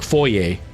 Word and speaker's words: foyer: We say foyer. Americans say foyer because there's an ER at the end. But the word is a French word, and so we use it with the French pronunciation of foyer.